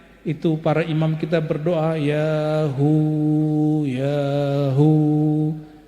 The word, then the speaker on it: Ya Huu: para imam kita berdoa ya Hu yahu Coba baca sama-sama yaahu ya Hu ya Hu bukan hu hu ada merindingnya enggak tadi Kalau bacanya dari dalam itu merinding karena itu nama Allah subhanahu